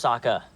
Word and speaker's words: Sokka: My name's Sokka. Rhymes with Aka and Waka Waka.